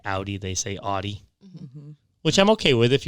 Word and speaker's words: Audi: the first honker name so many people say od when it's actually pronounced audi say it with me audi very easy next